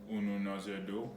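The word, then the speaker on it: Ununọzẹdo: So I want you to pronounce it after me. So it's Ununozędo. Ununozędo.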